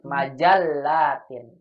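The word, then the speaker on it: مَجَلَّة: Kalau di kita lamnya nggak bertasydid ya, majalah. Kalau kita majalah kan ya, majalah ya. Kalau di Arab lamnya bertasydid, majallatin. Itu bedanya ya.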